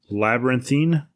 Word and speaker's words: Labyrinthine: i'm sorry so it's labyrinthine dreams so it's spelled like labyrinth and then it's got a thine at the end so t-h-i-n-e at the